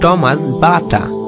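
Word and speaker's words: Tomáš Baťa: Check ভাষায় উচ্চারণ টমাস বাটা।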